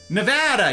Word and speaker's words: Nevada: Nevada. You're exactly right, Silver. That is how you pronounce it.